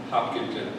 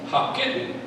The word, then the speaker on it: Hopkinton: I have lived in that area or near in Dubuque for quite a while, and the locals do not pronounce it Hopkinton. It's Hopkinton. Hopkinton.